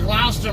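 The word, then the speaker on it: Gloucester: City I was seeing glester Massachusetts and it's spelled g l o u c e s t e r cuz I know we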